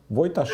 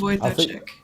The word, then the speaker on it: Wojtaszek: Wojtaszek. Radoslav I think, Wojtaszek. yeah, I Okay. think it's sh rather than ch, and I believe both